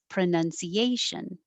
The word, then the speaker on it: pronunciation: Starting with one that I always use in my vocabulary, pronunciation. The stress is on A, pronunciation.